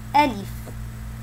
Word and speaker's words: ألف: يجب أن نركز على حرف الألف لأنه يتكون من ثلاثة أحرف: ألف، لام، وفاء. اللام مكسورة، يوجد عليها تحتها كسرة، فيجب أن ننطقها بكسر اللام. ألف، ألف، ألف.